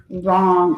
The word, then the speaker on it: wrong: wrong something that is wrong or incorrect so one of our silent letters is a W for right and wrong so that's one of